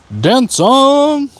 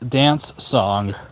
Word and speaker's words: Dan Cong: know it serpent Rider Dan song yeah it's pronounced like dance song that that c makes a s sound but yeah love Ling